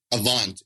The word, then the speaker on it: Avant: credit score, this top one, I can never pronounce this right. Is it Avant? Avant.